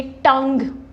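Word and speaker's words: tongue: यहाँ पे जब भी आपके पास आप देखोगे GUE वाले वर्ड्स हैं जैसे टंग, टंग, लीग, डायलॉग, तो हम इनमें GUE पे स्ट्रेस नहीं करते। ये क्या हो जाता है?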